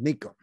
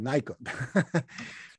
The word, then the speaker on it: Nikon: In Japan, it's pronounced Nikon. I know we call it Nikon.